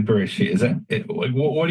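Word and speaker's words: בראשית: They said, how should we pronounce the letters Bet, Resh, Aleph, Shin, Yud, Tav? Maybe it's Bara Ashit, or maybe it's Buru Ushit. And they just decided arbitrarily Bereshit.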